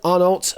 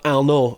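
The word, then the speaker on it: Arnault: And the bail that question, Richard Person 2020, Titan Bernard Arnold lives in France, I guess. Titan Bernard Alno, I guess, which should be pronounced a bit more like that.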